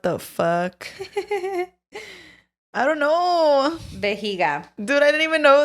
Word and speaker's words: vejiga: Vejiga. Dude, I didn't even know that. What the heck? Vejiga? Yeah. Viejiga.